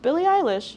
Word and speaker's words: Billie Eilish: Billie Eilish, yeah.